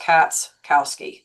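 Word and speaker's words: Katschkowski: Most people just say, but just so you know, when you look at my last name, the ch is silent. So, it's really just Catscowski.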